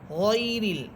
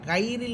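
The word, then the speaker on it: غير: যেমন আমরা সূরা ফাতিহার মধ্যে পড়ে থাকি গয়রিল মাগদুবি আলাইহিম, এখানে দেখেন গয়রিল, আমরা গাইরিল বলি না, গাইরিল বললে এটা ভুল হবে, বরং এখানে পড়তে হবে গয়রিল, গয়রিল মাগদুবি আলাইহিম।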